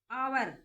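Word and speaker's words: hour: जैसे एग्जांपल के लिए देखिए आवर इसमें एन एच है जो साइलेंट रहेगा। आवर तो साउंड आ रही है वोवेल की।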